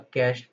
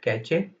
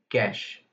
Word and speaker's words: cache: killed that is a cached process. Some people call it catch but the current pronunciation is cash. Just as you pronounce c a s h similarly you pronounce c a c h e cache.